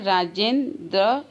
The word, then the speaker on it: राजेंद्र: राजेंद्र, राजेंद्र का सही वर्ण विच्छेद र धन आ धन ज धन ए धन न, क्योंकि आधा न का उच्चारण हो रहा है। राजेंद्र र।